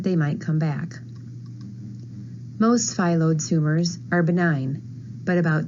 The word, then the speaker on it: Phyllodes: First of all, there are a few different pronunciations of the word. Phyllodes, Phyllodes, or Phyllodes. I am going to use the Phyllodes tumors pronunciation. Phyllodes comes from the Greek word meaning leaf-like.